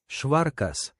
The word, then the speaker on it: švarkas: Luckily, I can roll my R's, but there's no, I doubt that there's any Spanish word that puts those sounds together with the sh and the rolling of an R.